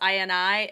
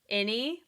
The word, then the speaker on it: INI: Um inside note, somebody told me that, I believe it is pronounced INI and not any, like I was calling them, but they were